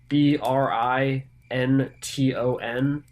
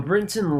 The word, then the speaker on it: Brinton: who might be curious It's not actually spelled Britain it's b r i n t o n so Brinton is probably the proper pronunciation but I'm probably not